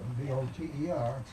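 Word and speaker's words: Fauteux: speak French know that the pronunciation of F-A-U-T-E-U-X is a very quiet F, and it's more like voter than Foder.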